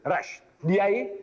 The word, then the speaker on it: Rushdie: His name is Salman Rushdie.